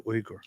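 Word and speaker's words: Uygur: but that's not how it is it's actually ugur some people pronounce it yogur and they call him yogurt chunky yogurt we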